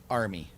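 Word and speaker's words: Ermey: Army. Army. Army. R. His name is R. Then second word Lee. Third word army. That E R M uh is pronounced army. Like the army.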